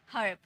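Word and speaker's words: herb: उसके बाद र ब हर्ब इसे र्ब नहीं पढ़ेंगे ठीक है इसे ई मत पढ़ना र्ब नहीं पढ़ना हर्ब अ का साउंड आता है हर्ब germ वर्ब term okay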